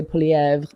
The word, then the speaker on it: Poilievre: Even I pronounce it wrong because it's Poilievre. Like that's how I learned French, not Québécois French. But in Canada, it's spelled Poilievre. Like if you were just pronouncing it like it looks like it should be pronounced, that's what you'd say. But in Canada, we're supposed to say Poilievre.